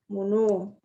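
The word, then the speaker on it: 物: Mono bisa dibaca mono. Bisa juga dibaca butsu gitu ya.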